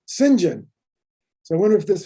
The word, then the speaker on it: Saint John: name i know that the english name saint john in england is pronounced sinjin so i wonder if